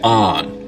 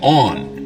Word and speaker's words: on: Now, north of this line, most people say on, rhymes with don. South of it, they say on, rhymes with dawn.